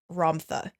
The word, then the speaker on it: Ramtha: One of them being the white book from Ramtha. Rampa. Dr. Joe pronounces it Romtha.